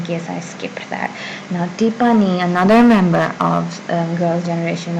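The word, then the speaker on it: 티파니: Now Tipani, another member of Girls' Generation or Sonyeoshide, Tipani. In English she is simply Tiffany. Tiffany. But in Korean she's Tipani.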